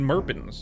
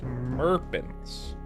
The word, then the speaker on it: Merpins: It's Merpins. What's my name? It's Murbans. [cough and clears throat] Tony, why why you asking my name? It's it's it's Merins. It's always been Merpins. Is it's Merpins.